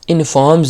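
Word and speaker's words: informs: ज्यादातर इट इनफॉर्म्स अस इनफॉर्म्स ये आर हमारा साइलेंट है इसको इनफॉर्म नहीं पढ़ना बल्कि इसको हम पढ़ेंगे इनफॉर्म्स इट इनफॉर्म्स बल्कि आमतौर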